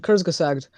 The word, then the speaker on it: Kurzgesagt: essentially pointless because there's a YouTube channel called Kurzgesagt that basically Oh, I love that guy. Yeah. yeah, it's amazing. You pronounced that very well.